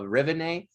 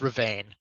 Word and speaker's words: Ravine: it the saint of revenae set in the same vein right what is it it's ravine ravine thank you that's that's how